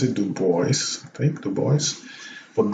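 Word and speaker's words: Du Bois: pronounced too oh no maybe not yeah he pronounces it do boys take the boys but dubois would have been the french pronunciation but yeah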